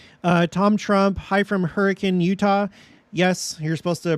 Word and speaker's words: Hurricane: forgot about it uh Tom Trump hi from Hurricane Utah yes you're supposed to pronounce it hurricane that's how they say it hi from Hurricane